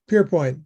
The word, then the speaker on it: Pearpoint: Next is Pearpoint. Did I pronounce it correctly? Close enough. Pierpoint, but I'm in Toronto.